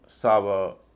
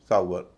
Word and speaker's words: SOUR: आवर, सावर, flower, इन सब में हम व का उच्चारण करते हैं, जबकि इनका असल उच्चारण है आवर, सावर, फ्लावर।